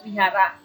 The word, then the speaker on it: Wihara: tempat ibadahnya adalah Wihara sebenarnya tulisannya adalah V yaitu bacanya tulisannya Wihara bacanya Vihara sebutan Tuhan dalam agama Budha